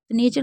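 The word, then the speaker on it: nature: में देख रहे हैं तो सब में क्या है टी को च पढ़ा जा रहा है और उसके साथ यू आर ई है तो जब भी टी के साथ यू आर ई होगा तो उसे चर पढ़ेंगे अब टी को श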